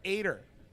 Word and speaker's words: Ater: oh wait a second Kyle actually gave me his pronunciation Kyle ater even though it doesn't have an i in it so I was saying I was saying Adder but he said it's ateer so Kyle Hopefully I got